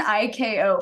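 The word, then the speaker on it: ICAO: called um an i they call it an ik KO Flight Plan form but it's spelled i a o and if you can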